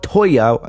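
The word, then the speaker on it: Tōya: he says toya right i'm not going to say toa but toya that's how i'm going to pronounce it but he says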